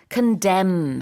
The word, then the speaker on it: condemn: condemn 하다라는 동사가 바로 비난하다인데요. 여기에 m하고 n 같이 들어갑니다. condemn, condemn. 근데 발음할 때는 m까지만 발음을 해요. 그러나 스펠링은 뒤에 n이 하나 더 붙습니다.